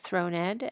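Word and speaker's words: thronèd: The accent over the e in throned is make it shows us that it's pronounced throned and that is for the um that is for the scansion as on the finger of a thrown queen.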